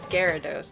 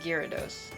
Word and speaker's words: Gyarados: what because the american the english is gyarados not gyrados yeah it's gyratos that's